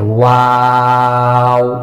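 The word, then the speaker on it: واو: একথা বলে ওস্তাদ হরফের নামের মশক করাইবে যে ওয়াও। ওয়াওটা কিভাবে উচ্চারণ করতে হয়? 2 ঠোঁট গোল করে 4 এল পরিমাণ টেনে উচ্চারণ করতে হবে।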